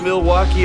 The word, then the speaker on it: Milwaukee: Do you come to Milwaukee often? Actually, it's pronounced milwauke for the good land.